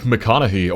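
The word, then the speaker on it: McConaughy: out in Nebraska is Lake MCC or apparently Lake Mech as locals say A 55.78 Mile Reservoir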